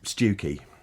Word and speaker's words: Stiffkey: Stewkey. That's sad as well. Stiffkey, as it's spelled.